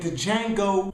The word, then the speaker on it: Django: color purple roots and Django Unchained the Django is silent this Black History Month